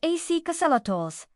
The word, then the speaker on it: axolotl: Let's explore everything you never knew you wanted to know about axolotls, pronounced axolotls, are amphibians native to a single system of lakes and canals in Mexico.